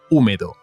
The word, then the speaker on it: húmedo: Está el sitio húmedo. Húmedo. Remember, the H in Spanish is always on strike. You never pronounce an H. You need to write it, okay?